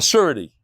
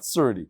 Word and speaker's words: surety: knew I guess a surety s-u-r-e-t-y-n that's how you pronounce it sure not surdy Surety okay surely she